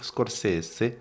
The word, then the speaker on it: Scorsese: Mais non, c'est vrai qu'avec Scorsese, c'est la vraie prononciation. Martin Scorsese.